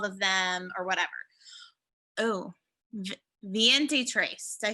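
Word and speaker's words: veintitrés: Oh, Viente trace.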